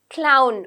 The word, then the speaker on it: clown: First one, astronaut, doctor, farmer, teacher, chef, librarian, pilot, florist, clown, wa, okay, so it's not va, but it's wa, clown, musician, cashier, artist, plumber.